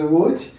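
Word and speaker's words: Łódź: the difficult of language you spell it l o d z and polish some Polish signs in it so it is wood it is a city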